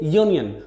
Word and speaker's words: union: word union of course this word union starts with the letter u which is a vowel but when we pronounce these word we say union the initial sound is yaw like this is you that's why we can't use and before this world next is university boy